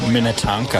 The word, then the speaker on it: Minnetonka: John, it's pronounced Minnetonka.